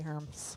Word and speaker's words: Hermes: Would you guys give a warm welcome for Hermes? Thank you for the setup, Nikki, to do my opening day of school introduction. So I'm Ms. Hermes, that rhymes with worms, germs, and other biological terms, including gymnosperms, angiosperms, and regular old boy sperms.